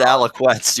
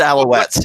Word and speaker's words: Alouettes: pronounced Alouettes or s you said Alec west you put a cue in it that was pretty funny actually yeah that's Alouettes yeah what is in